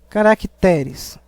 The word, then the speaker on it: caracteres: que deverá ser acentuado caracteres é uma paroxítona terminada em Es Por isso que não